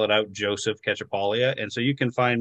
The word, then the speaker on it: Cacciapaglia: even though I usually say I always spell it out Joseph ketchupalia and so you can find me on Facebook